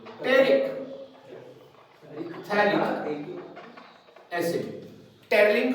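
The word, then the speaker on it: phthalic: थैलिक। P silent है, PH जो है वो साइलेंट है, तो क्या बना? थैलिक acid.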